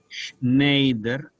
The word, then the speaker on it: Schneider: se escribe con s Schneider e es un diptongo que en alemán suena Ay Schneider que significa sastre si